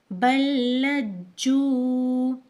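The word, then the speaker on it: بَل لَّجُّوا: दोबारा हम इसकी हिज्जे करेंगे, बा लाम ज़बर बल, लाम जीम ज़बर लज, जीम वाव पेश जू, बल्लज्जू।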